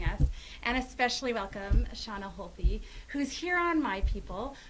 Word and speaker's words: Holthe: Shauna Holthe, or on Instagram at Shauna Shauna Holthe. Holthe, yeah. And we should say Shauna is spelled S-H-A-U-N-A.